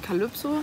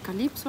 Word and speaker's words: Calypso: aus wie auf Deutsch, nämlich Calypso, also mit dem Y wie ein Ü. Und so mag ich auch, dass man meinen Namen am liebsten ausspricht. Aber auf Spanisch spricht man es Calypso aus und auf Französisch Calypso.